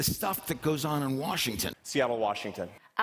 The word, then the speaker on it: Washington: or Dubai, let's review Washington, just like Boston, Houston. Notice that N sound is a tin. Tin because it's unstressed, you can say Washington DC is the capital of the United States.